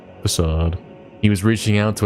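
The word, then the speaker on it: façade: Damn, I thought it was fake. I've been pronouncing it fake until now. I guess I'm finding the switch on it facade.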